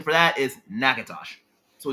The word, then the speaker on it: Natchitoches: Pronunciation for that is Nakatosh.